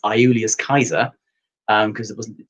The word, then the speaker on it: Caesar: is actually pronounced aiulius kaiser um because it wasn't j wasn't the hard j um and all c's are ker so kaiser not caesar um and then uh